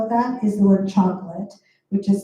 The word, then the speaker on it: chocolat: So an example of that is the word chocolate, which is spelled CHOCOLATE.